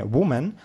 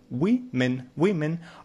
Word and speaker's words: women: Нужно правильно, кстати, читать не women, а women.